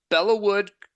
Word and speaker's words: Belleau Wood: It's Belleau Wood, so well done, Okay.